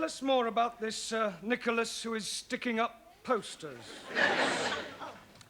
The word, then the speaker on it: Nicholas: upon a times there was a man called nickel ass it's not quite right no no once upon a time there was a woman called nickel ass it's pronounced Nicholas all right once upon a time there was